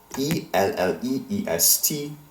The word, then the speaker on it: elle est: Notice how all of these verb conjugations end in a silent letter. In fact, the form used for il, he, and elle, she, and on, one, ends in two silent letters, s and t. As a result, neither of these letters are pronounced. However, they do have an effect. They make the letter E take on an E sound, as in ES, and ET endings often do.